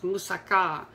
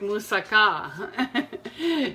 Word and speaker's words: moussaka: one of the favorite dishes from Sarah was moussaka and they call it a steak pronounce it moussaka not moussaka that's the first